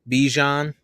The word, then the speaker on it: Bijan: a little more if we can get um Bijan that's how that's how you say his name